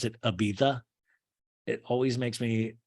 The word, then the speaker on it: Ibiza: Ibiza does anybody ever know why we call Ibiza you're supposed to pronounce it Ibiza it always makes me like Ibiza have you